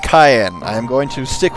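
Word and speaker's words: Cyan: his family and kingdom his name is pronounced cayenne i am going to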